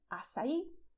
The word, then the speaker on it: açaí: I couldn't find a picture of "AÇAÍ", but they look very similar... With the stress on Í, allright?